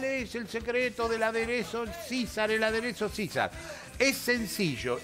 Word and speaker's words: Caesar: Caesar, no es, pero se pronuncia César.